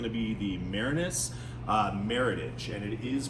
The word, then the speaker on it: Meritage: you're selling this to people um you know Meritage is how you're going to pronounce it um and you're going to be